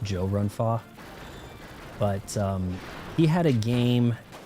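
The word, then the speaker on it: 周潤發: You guys think of him as Chow Yun Fat. It's actually pronounced Joe Run Fa.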